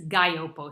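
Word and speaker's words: Gaglioppo: so this is 100 gallopo now if you see it spelled it looks like gagliopo and you think gosh how do i pronounce this it's a gaiopo so it's kind of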